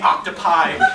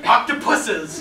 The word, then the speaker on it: octopuses: I asked myself how I been under a misapprehension that the word was in Latin in second declension with no Latin in it I've been wrong all this time now I have to admit this fraudulent contemptible accusation illogically screwed up the pluralization was not a lullaby for my dear friends the octopi not opuses nor choruses some for the many octopuses no this was a